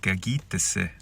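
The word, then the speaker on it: kâkîtisi: So last night I came across the word gagitese.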